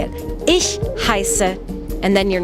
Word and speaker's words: Ich heiße: To say my name is Frau, I say Ich heiße Frau. To make that sound for the word I, you kind of have to hiss like a cat.